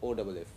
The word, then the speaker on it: off: and this word was OFF. What is the difference in the sound of these? In this OFF, you pronounce F precisely as F, off.